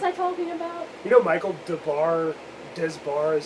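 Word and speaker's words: Michael Des Barres: You know Michael Desbar is how you pronounce his name, was their lead singer briefly.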